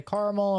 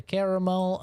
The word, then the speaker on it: caramel: of a word where if I hear someone say caramel or I hear someone say caramel okay understandable why is it taking